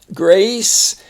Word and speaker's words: Grace: Grace. And the E makes the S say, the C say the S sound, and the A's long.